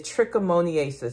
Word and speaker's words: trichomoniasis: we're going to be going over the correct pronunciation is trichomoniasis, and I still said it wrong, but you know what I'm talking about.